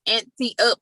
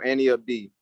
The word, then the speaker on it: anteupd: So everybody says that, but it's pronounced like Annie Up, like Annie, and then Up D. So Annie Up D.